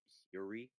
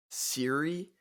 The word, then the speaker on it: Syuri: Her name is Syuri. Siri, Sy- she's Japanese. like the I think her. person who lives inside of my phone. Yeah, I kind of like that. Yeah, but it's spelled Syuri.